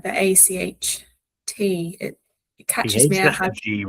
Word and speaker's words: acht: For some reason, the A, I know that like the ACHT, it catches me out.